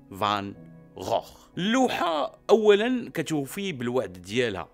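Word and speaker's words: Van Gogh: راه قلبت على السميه ديالو كيفاش كتنطق، وكتنطق فان غوخ.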